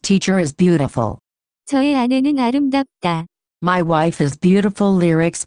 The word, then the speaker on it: 아름답다: The pronunciation of this word is closer to 아름답다. 아름답다.